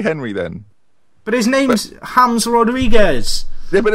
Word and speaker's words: James: hes Rodriguez it's spelled James oh no hry is spelled Henry all right well let's call him tierry Henry then but his name's hams Rodriguez yeah but it's not is it it's